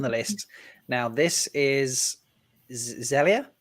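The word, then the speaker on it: Xelia: last last one the list now this is zelia zelia x-e-l-i-a is how her first name is pronounced mendes jones model and an actor but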